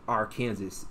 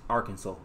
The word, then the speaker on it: Arkansas: or last year I found out it wasn't pronounced Arkansas. It's Arkansas. So this whole time, bro, I've been saying Arkansas, bro.